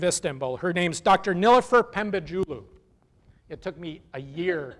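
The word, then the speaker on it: Pembecioğlu: Nilüfer Pembecioglu. It took me a year to learn how to say that, by the way. Pembecioglu.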